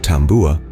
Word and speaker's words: tabua: Tabua, pronounced tambua, is a polished sperm whale's tooth, often strung onto a cord of braided coconut fibers.